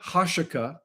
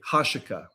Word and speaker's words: Huachuca: Well, the fact that Erica Kirk and Brian Harple were at Fort Huachuca so close to the time of Charlie Kirk's event cannot be dismissed as a mere coincidence.